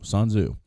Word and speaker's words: Sun Tzu: Some people say it was a combination of a bunch of different people, but it's Sun Tzu. It's spelled S-U-N and then T-Z-U, Sun Tzu.